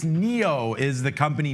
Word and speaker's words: NIO: it we often say nio so I did see some people there asking us which way is proper uh it's Neo is how you pronounce it but nio ticker symbol